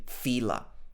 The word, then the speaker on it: Fila: Well, it used to look to me like a triangle, but it's not, it's an A, all right? So it should be Fila.